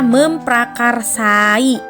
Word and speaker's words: memprakarsai: huruf P tidak luluh Karena setelah awalan men diikuti oleh kata dasar yang diawali dengan PR atau praktinya gitu loh yang merupakan Cluster Nah jadi tidak melulu katanya tetap dibacanya memprakarsai Nah masih bingung ya